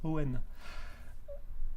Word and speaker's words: Owen: c'est moi Owen, mais ça se prononce pas Egan, ça se prononce Owen.